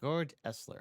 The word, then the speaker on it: Georg Elser: was this man meet gor eler he is a Craftsman a rather gor esler okay that's how you say his name he's a Craftsman okay